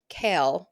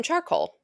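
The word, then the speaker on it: Chaol: Selena Kale is his name. It's spelled C H A O L. Before I knew that's how it was pronounced, I called him charcoal because that's that makes sense. Charcoal. So then my friends were like, "You should really look up how to say the words." And then I did and I realized charcoal's name is kale, like the vegetable.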